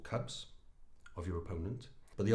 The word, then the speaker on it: Kubb: ree from King cub Cub is pronounced cub in Scandinavia is an